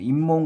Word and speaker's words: 잇몸: 잇몸 같은 경우는 잇몸으로 우리가 표기를 하잖아요. 표기를 하지만 우리가 공부하는 건 지금 발음이죠. 니은으로 지금 발음이 된다는 얘기예요. 표기는 시옷으로 했지만 우리가 뭐예요? 니은으로 발음하는 거.